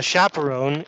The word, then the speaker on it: chaperon: see three chaperon a chaperon is an adult who accompanies children it comes from the French so we pronounce this word chaperon three chaperon in myself